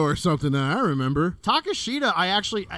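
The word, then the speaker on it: Takeshita: Takashita, and I guess you say his name another way, but Takashita's how I've been doing it.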